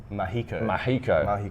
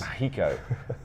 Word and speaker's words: Magico: This is the Telecaster Mahico, yes. Mahico. It's spelled Magico.